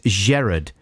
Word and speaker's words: Jared: gotta say this right it's jared with a soft g not a hard g i hate it when people say it like that says jared uh he